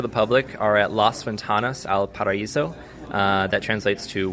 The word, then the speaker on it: Ventanas: what again las las ventanas okay for the v as in victor yes that's right i think you pronounce the v like of the b like bentanas or something yeah the translation took